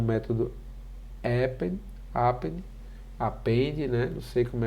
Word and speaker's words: append: tá juntando tá acrescentando a pronúncia ó append append n é meio esquisito a gente dar aula falando assim nessa pronúncia mas é o correto né apente o método apente